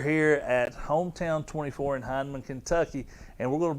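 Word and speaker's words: Hindman: his mom beth i do know how to pronounce heineman kentucky just wanted you to know and i tell you it was really grating to listen to those announcers say hinman last night over and over but we are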